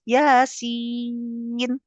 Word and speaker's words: Yasin: kayak Yasin misalnya kan banyak bahasa Indonesianya ya enggak boleh tulisannya Y A S ada pedangnya kan I I tuh enggak boleh dibaca ya a A a a si I iin nah itu salah ya harus Yasin kok harus kayak gitu